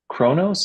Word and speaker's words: Kronos: episode they say no one has been to Kronos. Is that how you pronounce it?